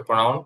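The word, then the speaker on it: pronoun: আচ্ছা, তো প্রনাউন প্রথমে আমরা এক ধরনের প্রনাউন পড়বো, এটাকে প্রনাউন আমরা বলি, এটার সঠিক উচ্চারণ হবে হচ্ছে প্রনাউন, প্রনাউন।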